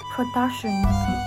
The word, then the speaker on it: production: Production is also read on the second syllable.